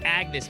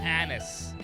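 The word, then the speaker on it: Agnès: I keep saying Agnes. It's Agnes, man. It's not Annis. If you wanted to be pronounced Agnes, you should have put it differently.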